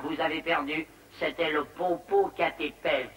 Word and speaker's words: Popocatépetl: C'était le Popocatépetl. Ça s'écrit comme ça se prononce.